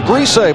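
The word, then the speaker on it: Griese: Wants to be called Lawrence, similar to your situation where you attempted to have people pronounce it as Grise, but no one listened.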